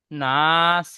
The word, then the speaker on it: ناس: নাস, এখানে টান দিয়ে বলেন। নাস। আল্লাযী ওয়াসইসু ফি সুদুরিন নাস।